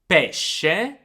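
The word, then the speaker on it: pesce: the soft sound now sc is pronounced as a soft sound when it is followed by two vowels e or i so again it's the same sound you have in english in words like she ship and shell let me give you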